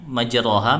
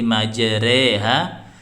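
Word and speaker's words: مجريها: Inna Robbi Lawu Rohim Nah jadi bacanya Harusnya majroha menjadi majreha itu dimiringkan dimiringkan bacaannya Oh ya Rey Rey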